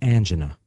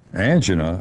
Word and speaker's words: angina: be a sign of angina angina or angina pectoris is sometimes called or angina which is all all these are correct pronunciations is the feeling the